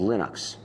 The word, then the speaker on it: Linux: linus and i really don't care how people pronounce my name but linux is always linux he developed a kernel and